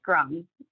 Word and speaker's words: Grom: And I'll just note that my family says that the E in the letter of my last name used to have had an accent aigu over it, so it's fine to do the French pronunciation as well. I'm totally fine with that. But so would you Grom, please pronounce your last name again one more time? It's Grom. Grom, just Grom.